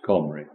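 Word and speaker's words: Cymru: the good samaritans remember in celtic comray still pronounced comray keltoy kelt letter c substitute the decay and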